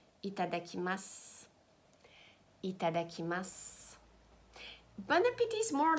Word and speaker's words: bon appétit: France very often it's bon appetit Bon Appetit please guys do not pronounce the T at the end it's not Bon Appetit